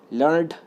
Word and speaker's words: learn'd: Here it is pronounced as 1 syllable और यहाँ पर इस पोएम में इसको 1 syllable के तौर पर प्रोनाउंस किया जाएगा, पढ़ा जाएगा. यानी लर्नड को लर्नड पढ़ेंगे हम.